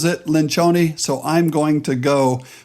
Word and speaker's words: Lencioni: Some of you know him as Patrick Lencioni or other things, but he pronounces it Lencioni, so I'm going to go with his interpretation of his own last name.